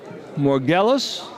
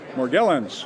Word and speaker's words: Morgellons: let's pronounce this incorrectly morgellos morgellons morgellons you know that's that's true